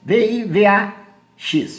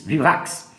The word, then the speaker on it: vivax: erro de maria vivax não se pronuncia baby a x vivax essa espécie causa uma